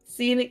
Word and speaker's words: zine: Zen Z I N E O Zen. Zen.